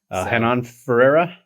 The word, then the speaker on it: Renan Ferreira: Renan Ferreira.